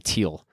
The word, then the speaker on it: Thiel: I think he actually pronounces his name Thiel.